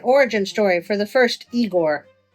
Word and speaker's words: Igor: You know, that kind of feels like an origin story for the first Igore. No, it's pronounced Igore. But they told me it was Eigor.